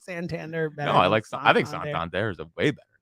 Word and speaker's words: Santander: It's got like a ring to it. It rhymes. Santander. No. Yeah, Anthony. Santander. Bang. It sounds like salamander.